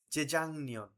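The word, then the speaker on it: 재작년: মূল বর্ণের নিয়ন আছে আমরা জানি ভাচ্যম গয়কের পরে মূল বর্ণের নিয়ন থাকলে গিয়কের উচ্চারণ অনুষ্কারের মত হয়ে যাবে তাহলে কি হবে যে জাংনিয়ন জেজাং নিয়ন গত বছরের আগের বছর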